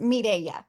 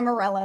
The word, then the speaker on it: Mirella: Yes, it is pronounced Mireya, but I do go by Mirella as well.